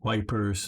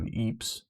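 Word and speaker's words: Ypres: Wipers, and yes, I know that's the British pronunciation of Eeps.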